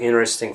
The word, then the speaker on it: interesting: and I found very INNERESTING facts in relation to job interviews, right? So basically when I speak quite fast, those words are pronounced with the t sounds omitted, right?